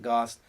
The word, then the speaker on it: GOST: And we're going to just pronounce it GOST.